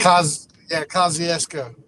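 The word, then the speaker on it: Kosciusko: Kosciuszko, if I say it right, Kosciuszko, who I predicted would beat. Kosciuszko.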